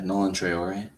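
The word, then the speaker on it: Nolan Traoré: I don't know how to pronounce his name. Is it Nolan Nolan. Yeah, Nolan Traore.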